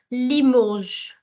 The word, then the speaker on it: Limoges: Another city name that I have selected here is Limoges. Limoges. The S in the end is going to remain silent because it is a consonant. So please don't sound it as Limoges, Limoges. It's Limoges.